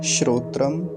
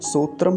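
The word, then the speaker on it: श्रोत्र: कैसे बनेगा यह तकारप्पन लगभग मकार जैसा ही उच्चारण आएगा तो क्या हो जाएगा शोत्र शोत्र ऐसा आसान है सूत्रम नहीं बोलेंगे शोत्र ऐसा उच्चारण होगा अगला मंत्र देखेंगे ओम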